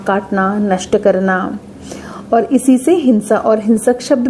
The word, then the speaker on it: सिंह: सिह के उच्चारण पर इसकी वर्तनी में हम लिखते तो ह है लेकिन हिंदी भाषी बोलते क्या है ग या घ यहां तक कि अंग्रेजी